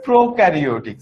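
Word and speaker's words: prokaryotic: আচ্ছা, প্রোক্যারিওটিক sell আর ইউক্যারিওটিক sell, হ্যাঁ, এটার উচ্চারণটা হবে ইউক্যারিওটিক আর এইটার উচ্চারণটা হবে প্রোক্যারিওটিক সেল।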